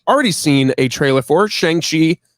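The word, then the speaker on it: Shang-Chi: seen a trailer for shangshi changchi in the legend of the ten rings i've learned that is the correct pronunciation of the character's name shanxi um this new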